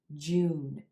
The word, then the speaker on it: June: short words like this you want to hold that vowel sound two beats June June a lot of